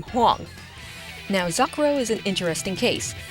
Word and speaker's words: Zakuro: Now, Zakuro is an interesting case. In the Kodansha version, they spell her name as Z-A-C-R-O, which is pronounced the same way as her Japanese spelling of her name.